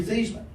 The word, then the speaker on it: Theismann: last name that's no it's not it's actually feasible he says no Joe your last name is pronounced like I said give me the phone